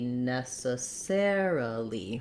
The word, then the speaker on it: necessarily: long short short short in necessarily it's going to be short short short long short short and we're going to have an uh and a lee at the end so it'll be necessarily for the other option